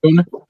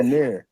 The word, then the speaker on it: Donaire: I'll be pronouncing that Oh, shit you wrong. who? talking about? Who? You talking about Rachel Donner? He talking about Yeah, Donaire.